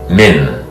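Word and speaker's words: 민: pronounced if G G the last syllable is men the first letter is M the second letter is I pronounced as it here and the third letter is n min mean pop T min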